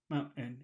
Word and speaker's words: mountain: you're coughing mountain mountain it's a little like a little cough in the bottom of your throat Mountain mon well you